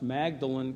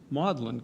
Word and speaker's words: Magdalen: Oxford at what, until recently, I have always pronounced Magdalen College, but Murray explained to me that it's actually pronounced Magdalen College.